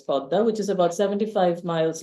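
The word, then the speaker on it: Padma: it traverses the podda it's written in English p a d ma a but in Bengali it's pronounced as podda which is about 75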